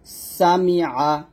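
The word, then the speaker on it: سَمِعَ: তাহলে এখানে যদি পড়ি সামিআ, সিন জবর সা, মিম জের মি, আইন জবর আ, সামিআ।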